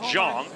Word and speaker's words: Zhang: to be named Zhang, it's spelled Zhang and rhymes with Big Bang. It is pronounced Zhang, but I guess they couldn't call him the Big Bong.